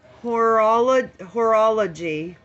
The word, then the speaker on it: horology: Horology.